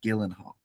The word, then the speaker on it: Gyllenhaal: Gyllenhaal incorrect um Hall it's pronounced Gillan Hall are you assure you